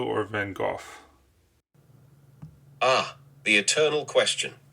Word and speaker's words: Van Gogh: name van go or vanoff ah the Eternal question in my native Dutch it's pronounced vanok with a gutural at the end however many people around the world say van go or van goof I'm quite accustomed to